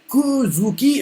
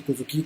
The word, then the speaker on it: Kozuki: Et là, Tama fait, Kuzuki. En gros, elle a du mal à prononcer Kozuki, quoi. Elle fait Kuzuki, quoi.